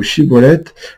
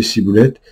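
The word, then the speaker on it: Shibboleth: Il suffisait qu'ils demandent de prononcer le mot Chiboleth à leurs adversaires, qui eux-mêmes prononçaient Ciboleth, pour qu'ils soient trahis par leur manière de prononcer.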